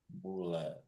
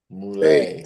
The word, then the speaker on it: Moulay: Moulay. Moulay, that's Yeah, like lay on the back.